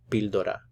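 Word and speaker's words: píldora: for a pill bildura again notice the ending la pildora la pildura and we're putting the stress on this syllable here okay well that's it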